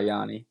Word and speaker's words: Yoni: I never really figured out how to pronounce it. Is it Yoni or like Yanni? I go by Yoni.